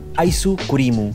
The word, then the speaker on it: アイスクリーム: Esta palabra se pronuncia aisu-kurimu. Aisu-kurimu.